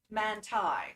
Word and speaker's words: Mante: Christina Mante says, I feel so bad for people who try to say my last name. Just think of it like Mantai. That's how it's pronounced.